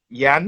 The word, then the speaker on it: Yian: Yan.